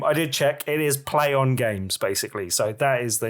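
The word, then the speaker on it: Plaion Games: And I wasn't entirely sure how to pronounce their new name. I did check. It is Play On Games, basically.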